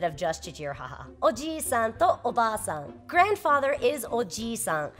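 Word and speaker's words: おじさん: Oji-san with a short I is uncle.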